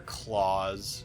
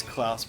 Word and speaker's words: Klaus: kick your ass dude like our claws or klaus whichever way you want to pronounce it i know it's klaus but sometimes i like thinking